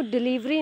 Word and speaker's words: Delhivery: क्या बोल रहे हो, बट आपका जो ब्रांड प्रोनाउंसिएशन है वो डिलीवरी नहीं है, वो डिलीवरी है। LH है, लह की आवाज़ आ रही है, डिलीवरी करके, ओके।